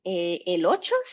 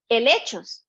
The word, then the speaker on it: helechos: And here they call them elochos, I think. Oh, helechos. Helechos. There we go. I'm pronouncing it there. Helechos here. They call them helechos.